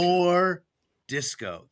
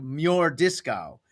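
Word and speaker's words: M'jordiscau: And so we changed it so it's it's it's pronounced more disco, but on paper it's written as m apostrophe j o r d i s c a u. So it's like mure disco, but everyone calls him more disco.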